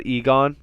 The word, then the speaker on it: Aegon: know from uh so this is actually aegon i'm sorry that i pronounced it weird before um but or egon you know we could call